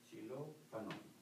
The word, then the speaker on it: xilófono: Say, xilófono, xilófano. Oh. It's a instrument, Xylophone. Yeah, mm-hmm. Instrument. Yeah, mm-hmm. Instrument. Yeah. Yes, yes. How do you pronounce that, sir? Xilófano. Like C. Like a C. Z or C.